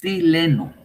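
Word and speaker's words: xileno: sustituye entes este es el chileno con x chileno es la forma correcta de pronunciarlo nos van a decir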